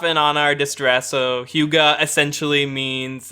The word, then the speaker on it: Hygge: Huga. Yeah, it's spelled Hygge. Huga.